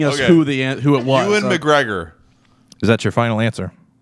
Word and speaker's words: Ewan McGregor: Ewan McGregor. Is that your final answer? Yeah, that's how you say his name, right? Yes, Ewan McGregor.